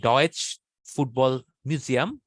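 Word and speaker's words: Deutsches Fußballmuseum: তো জার্মানির ফুটবল মিউজিয়ামটা হচ্ছে ডর্টমুন্ডে, যেটা হচ্ছে ডয়েচ ফুটবল মিউজিয়াম, এইভাবে উচ্চারণ করে তারা।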